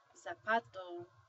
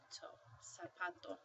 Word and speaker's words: zapato: oh no I'm sorry the Z Sounds like an S so when you see this word you don't say zapato you say SA sapato so when you see